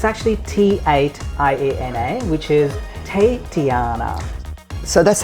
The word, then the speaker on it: T8iana: it so it's actually t8 iana which is te tiana so that's how you pronounce it you pronounce it tate tiana that's correct tony and the funny thing is